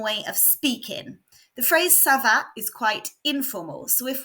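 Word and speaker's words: ça va: called a sedilla and the hook changes the sound of the C from a hard C Sound to a soft s sound let's hear the pronunciation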